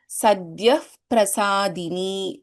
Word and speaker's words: Sadhyah Prasadini: Since there is Pa here and we have a Visarga, so there is the Upadhmaniya. So this is pronounced as Sadhyah Prasadini.